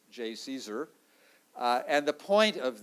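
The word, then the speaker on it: JCESR: for energy storage research which we abbreviate j and pronounce j caesar uh and the point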